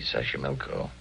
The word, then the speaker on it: Xochimilco: Xochimilco. Okay. So you pronounce it better than I do. It's easy, Xochimilco.